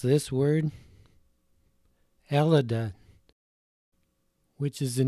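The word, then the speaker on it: Ελλάδα: How would you pronounce this word? Elida, which is the name for Greece in the Greek language.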